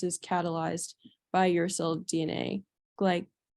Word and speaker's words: glycosylase: nucleotide, and this is catalyzed by uracil DNA glycosylase. How do you pronounce it?